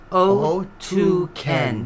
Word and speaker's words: Otken: Russian Siberian band pronounced O2 Ken.